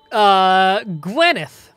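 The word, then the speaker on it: Gwynedd: The double D in Welsh names is pronounced TH, as in this. Gotcha. So that would be Gwyneth.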